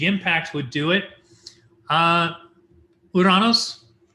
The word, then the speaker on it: Uranus: would do it uh uranus and yes i use the greek pronunciation because we've heard all the jokes uh its orbit is